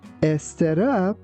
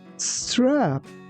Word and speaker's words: strap: Here be careful that instead of saying a strap, it's better to say strap.